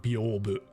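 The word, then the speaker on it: 屏風: God, if I saw these characters, I would never have guessed in a million years that it's pronounced Byobu.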